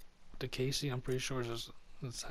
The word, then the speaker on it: Diakiese: Diakiese, I'm pretty sure that's how you pronounce his last name.